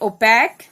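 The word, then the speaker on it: opaque: यहाँ पे k sound को QUE ये अल्टरनेट स्पेलिंग से रिप्रेजेंट किया गया है, ये साउंड कर रहा है इधर k को, because k और C को, because they are French words, they are not English words.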